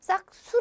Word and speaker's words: 싹수: 뭐 이렇게 표현하죠 자 발음에 주의 하셔야 될 단어가 하나 있어요 싹수 자 싹 수 라고 쓰지만 실제로 발음할 때 싹수 라고 이렇게 하지요 그러니까 뭔가 1 같은게